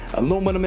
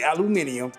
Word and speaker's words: aluminum: here the materials hmm aluminum and everything yes sir i'm not gonna say aluminium i'm gonna pronounce it the way it's supposed to be pronounced it's aluminum people it's aluminum all righty